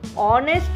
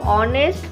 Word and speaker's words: honest: Number 7, Amin is dash honest man. Now in front of honest, why we are using an? Because H is silent.